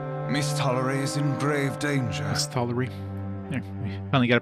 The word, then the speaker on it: Misthallery: Misthallery. There, we finally got a pronunciation of it.